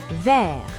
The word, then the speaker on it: vert: Vert, vert. Green. The T is silent.